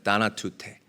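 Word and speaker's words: θανατοῦτε: 죽이라 이 죽인다라는이 단어는 원어로 나나투테라고 읽고 발음을 합니다 다나투테 뿌리를 뽑다 그리고 꼼짝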